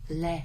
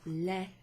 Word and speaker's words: le: So le, L-E, is pronounced differently to lei, which is spelled like this.